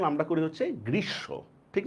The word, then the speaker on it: গ্রীষ্ম: এই বানানটার উচ্চারণ আমরা করি হচ্ছে গ্রীসম্য।